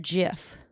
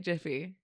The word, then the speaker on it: GIF: I like Jiffy. Where's the Y coming from? It's a GIF. It's a GIF. It's a Jiffy. Where's the Y coming from, Maria? It's a silent Y.